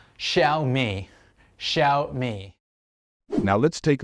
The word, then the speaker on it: Xiaomi: of saying this word even native speakers mispronounce it and say jomi ji and so on the correct way to say it is sh me the stress should fall on the first syllable it's sh me it's not shiai it's xiaomi x i a o m i is a brand of Chinese phone it's called xiaomi so it's pronounced Shia me sh me now let's